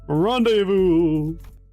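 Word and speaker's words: rendezvous: Can you say specify again specify rendevous? Man, isn't this funny how rendevous is spelled rendevous, but you're not supposed to say it that way.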